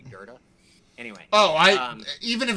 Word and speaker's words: Goethe: video yeah it was it was like go Etha if that's what it looks like but it's actually goethe anyway oh i even